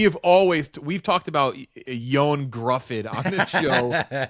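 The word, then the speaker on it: Ioan Gruffudd: Fantastic aka real name real name is Yan Griffith, how you pronounce it. But we've we have always we've talked about Yon Gruffid.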